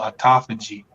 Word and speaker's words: autophagy: But A-U-T-O P-H-A-G-Y. So autophagy. It may look like autophagy, right? But it's autophagy.